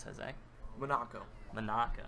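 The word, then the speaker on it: Munaco: Monaco. Monaco. Like Monaco, but with some letters switched around.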